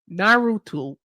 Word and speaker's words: Naruto: Mark said, "All right, Erica, I love you, but is Naruto."